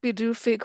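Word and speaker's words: Pituffik: And I meant to look up what that translates as, but uh it doesn't look like it would be pronounced bedufi, but it is.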